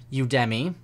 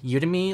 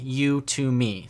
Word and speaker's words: Udemy: some people call it who to me and I think there's probably a few other pronunciations but just to let you guys know it's pronounced you to me like you to me so if you ever